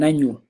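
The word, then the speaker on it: nañu: But nanyu, which is very similar but pronounced differently because it has the diacritic mark on the end, making it a ny.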